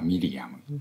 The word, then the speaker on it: ミリアム: れども、ヘブライ語の名前はミリアムという発音です。